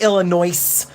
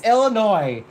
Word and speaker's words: Illinois: People from Illinois get really, really upset if you're like Illinois. You're from Illinois. And they're like, there's no S. Illinois. It's Illinois.